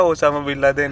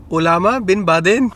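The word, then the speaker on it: Osama bin Laden: मैंने तो बताया ओसामा बिन लादेन. हाँ, नीतू कहती है ओलामा बिन बादेन.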